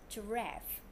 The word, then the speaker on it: giraffe: It's giraffe. Giraffe. Very good, excellent. When you say G-I together, it's pronounced J. J. So this word we say J. R-F. Rev. Giraffe.